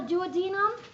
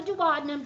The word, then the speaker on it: duodenum: It can be called the duodenum or the duodenum, just depends on how you pronounce it. Either way is correct.